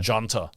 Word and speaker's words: junta: And it's spelt with a J. It's actually junta.